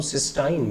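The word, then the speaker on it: cystine: यहाँ बना हुआ है इसको हम सिस्टाइन बोल देते हैं। देख रहे हैं स्पेलिंग में अंतर है, सिस्टीन में CYSTEINE था,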